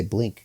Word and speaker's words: Blink: Speaking of Blink, I feel like I was mispronouncing that. I kept saying Bleak, B-L-I-Q-U-E, I think. A bleak existence. I mean to say Blink, guys.